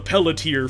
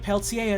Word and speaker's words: Pelletier: People read Pelletier as Pelletier? Yeah, because it's spelled P-E-L-L-E-T-I-E-R. And so they read that and they're like, oh yeah, Pelletier.